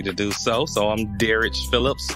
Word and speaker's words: Derrich: So I'm Derrich Phillips. I got a kind of a weird pronunciation for my name. My mom was getting creative. So instead of Derrich, she emphasized the rich.